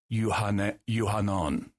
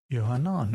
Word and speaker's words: Yohanan: And then John in Aramaic is in at least in the Pshita Aramaic version of the New Testament, it's Yohanan. Yohanan, okay.